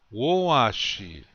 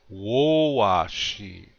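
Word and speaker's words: wówaši: Woashi. Again, the accent is on the first syllable. Listen real closely to how I say it. Woashi.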